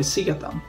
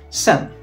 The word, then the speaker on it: sedan: svenska för ett år sedan. Zacząłem uczyć się szwedzkiego rok temu. Tutaj może jeszcze warto uważać na wymowę, ponieważ możemy powiedzieć sedan, ale bardzo często skraca się ono nam po prostu do szybkiego sen.